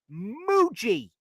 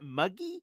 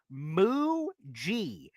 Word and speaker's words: Mougey: Muji. Okay. I at first, when I first saw it, it says, is that Muggy? Is that Mogi? What is it? But it is pronounced Muji.